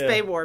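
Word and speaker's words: SPAWAR: It's Spay War, because I remember, because on my very first day on the job, I had to introduce the commander of Spay War at a conference, and I said Spa War.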